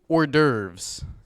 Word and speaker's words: hors d'oeuvres: question I have a surprise how do you pronounce this word sorry the papers a little crumpled it's actually hors d'oeuvres thank you that's all the time we have